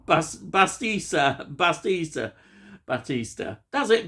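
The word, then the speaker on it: Bautista: can't say his name right Bas basa Batista Batista that's it Batista Dave Batista he plays Leonard now um I'm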